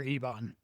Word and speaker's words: Ebon: So we're going Ibon or Ebon? Ibon? I would say Ebon. I've been reading it as Ebon. Ebon my whole life. Yeah. Ebon. That's how I've always read it, but I wanted to make sure.